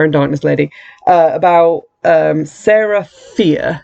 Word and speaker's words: Fier: He's online talking to this like Queen of Air and Darkness lady about Sarah Fier, whose last name is spelled F-I-E-R, so it's kind of like fire, about how she is this witch known to the town.